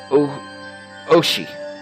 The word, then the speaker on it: Ooishi: Ooishi. That's how you pronounce his name.